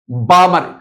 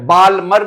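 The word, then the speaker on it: Balmer: इट was introduced by बामर बामर L silent बालमर नहीं बामर से।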